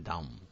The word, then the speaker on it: Down: Entonces, aquí lo hemos intentado explicar, trisomía del par 21 o síndrome de Down, ¿eh? Fíjense que se escribe Down, aunque en inglés se pronuncia Down.